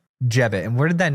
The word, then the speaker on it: Jebbit: So how do I say the name of the company? Jebbit. Jebbit.